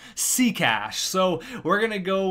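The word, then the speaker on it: Sekáč: Apparently some pretty decent prospect or something, but his name is pronounced Seacash.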